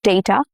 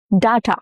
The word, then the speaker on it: data: Both these pronunciations are accurate. Both are correct, but data is more common in American English and data is heard in British or Indian English.